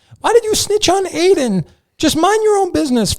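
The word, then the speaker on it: Aydin: is it again adam aidan aiden eden a-y-d-i-n aiden okay well i truly i don't [ __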